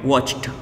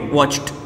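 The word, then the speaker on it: watched: तो इसमें ईडी का उच्चारण हम ट करेंगे, वॉच्ड, ट बोलेंगे, वॉच्ड।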